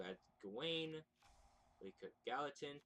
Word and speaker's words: Gallatin: Yeah, Gallatin.